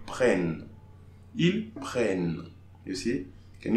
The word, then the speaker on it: prennent: So in this case, we are not pronouncing the E, we pronounce the N before. So ils prennent.